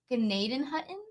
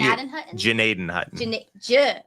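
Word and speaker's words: Gnadenhutten: So I'm gonna say the G silent. It's not Gnaden Hutton. It's actually Janaden Hutton.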